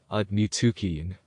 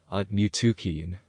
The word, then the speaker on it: Aaiyyan: This is the whole yantra, and it is pronounced Aaiyyan. Aaiyyan.